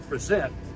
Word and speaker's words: present: the two men present with the accent on the second syllable present meant fire.